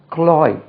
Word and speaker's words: cloy: திகட்டுவதுக்கு இங்கிலீஷில் க்ளாய், CLOY, க்ளாய், க்ளாய்.